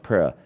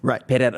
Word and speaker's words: Pereira: a joke, but like you don't even say like Alex Pereira, Alex Pereira, like you even do that inflection.